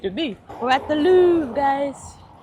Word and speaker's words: Louvre: That's YouTube said. That's how you say it. They said Louvre.